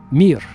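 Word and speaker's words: мир: In Russian, it's the the word mir. M I just three letters. Mir just like the space station.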